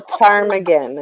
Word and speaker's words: ptarmigan: A Ptarmigan. It's spelled with a P. It's ptarmigan.